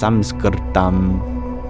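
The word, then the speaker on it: संस्कृतम्: Or in Sanskrit, it's technically pronounced Samskritam, and it means perfected.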